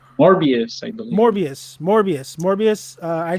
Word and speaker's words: Morbius: got what how do you say it albert more more vious i always get it wrong morbius morbius morbius morbius uh i still remember him